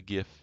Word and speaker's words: GIF: be a gif a gif you know I'm just gonna pronounce it like the G in uh gigantic so ajife so it's